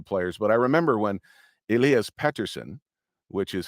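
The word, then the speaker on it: Elias Pettersson: think it should be pronounced here and it's Elias Peterson so I pronounce it that way um but it's Elias Patterson and of course now we just drafted another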